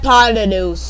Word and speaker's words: hypotenuse: Hypotenuse.